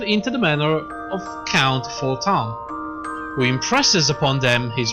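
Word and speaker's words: Fortemps: Edmond is Edmond Fortan, the leader of the Fortan. Sorry, it's French, it's pronounced that way.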